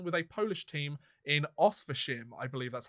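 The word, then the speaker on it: Oświęcim: Eliezer Sherbatov has drawn criticism and even been accused of treason after signing on with a Polish team in Oswiecim, I believe that's how you pronounce it, where the Nazi occupiers built the Auschwitz-Birkenau concentration camp.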